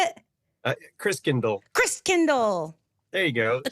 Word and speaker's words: Christkindl: The Christkindl. Christkindl, that's how you say it.